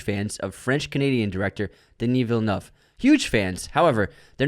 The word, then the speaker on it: Villeneuve: He was adding an extra thing in there, and after two records, like, bud, it's Villeneuve. Villeneuve, 2 syllables.